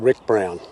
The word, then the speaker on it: Ryk Brown: saga it is written by an author called rick brown and he is spelt r-y-k-b-r-o-w-n um i have never heard of